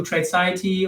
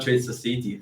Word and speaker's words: Tradeciety: Tradeciety, not Tradeciety, but Tradeciety. Yeah. You want to spell that out for people? Because it's a trade and then Ciety.